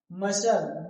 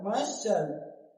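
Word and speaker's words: muscle: मशल, मशल, मशल, मशल, तो यहाँ भी सी क्या है, साइलेंट।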